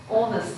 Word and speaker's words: honest: And also some pronunciation mistakes, like honest, do not pronounce H.